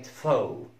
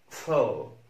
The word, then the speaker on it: faux: حرف ال X، حرف ال X لا ينطق في كلمة زي كلمة فو فو فو.